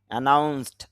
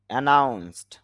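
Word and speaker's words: announced: এখানে যেহেতু স সাউন্ড পেয়েছি এই জন্য ইডি ডর উচ্চারণ এখানে ট হবে। অ্যানাউন্স, অ্যানাউন্সড, অ্যানাউন্সড, ঘোষণা করা।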